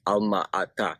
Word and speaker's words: Almaty: As far as where I lived in a city called Almaty, which, if you put it into the Kazakh language, would be pronounced Alma-Ata, which actually means the father of apples.